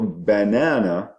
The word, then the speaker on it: banana: So when you say, for example, banana, the nana, banana, so nana, second syllable takes the stress and the b becomes weak.